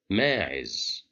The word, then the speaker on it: ماعز: As you see here, we have the letter meme controlled by fatha, so it's supposed to be pronounced as ma. But here we have alif, so fatha and alif. This means that we have mad bil alif. So this is a long vowel. We will pronounce it as ma. ماعز.